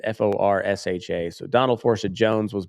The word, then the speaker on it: Forsha: I'm going to pronounce it like Porsche, like the car. It's Forsha.